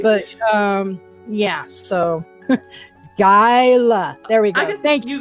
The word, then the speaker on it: Gyala: Gyala.